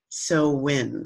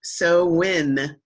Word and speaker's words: Samhain: not how it sounds so when spelled Samhain it's a Gaelic word so it doesn't it doesn't follow it's a different language so it's not pronounced